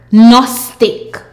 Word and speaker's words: gnostic: N a st ik gnostic.